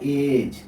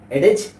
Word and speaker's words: edge: तो आइए देखते हैं, यहाँ लिखा हुआ है उदाहरण EDGE, यहाँ एज लिखा हुआ है, इसको क्या पढ़ते हैं? एज। एडेज नहीं पढ़ते हैं, एज पढ़ते हैं।